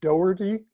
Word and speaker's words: Dougherty: know this particular effect the pronunciation in english would generally be dougherty it's like dough the stuff you make bread out of with erti stuck on the end um but the middle gh is not emphasizing dough or like